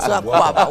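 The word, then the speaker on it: Akwaaba: Should we say Akwaba? That's how you say it, Akwaba.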